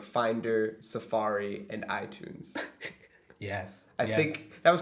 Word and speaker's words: iTunes: the last one is iTunes yeah I Tunes cuz it's like I and tun music tun like a music tune many Tunes ites so